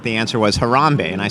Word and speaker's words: Harambee: a little bit about the genesis is it Harambee is that how it's pronounced yeah harambe rhombic that became the name